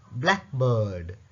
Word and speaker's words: blackbird: பாருங்க, for compound nouns, compound பெயர் சொற்கள், இவைகளுக்கு the stress is on the first part. முதலாவது பகுதியில் தான் ஸ்ட்ரெஸ் அழுத்தம் கொடுக்குற. எக்ஸாம்பிள், blackbird, greenhouse அப்படி.